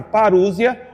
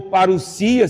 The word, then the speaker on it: parousia: E então essa palavra parúsia, ou parousia, se formos pronunciar na maneira como o grego se apresenta, indica a volta visível do Senhor Jesus.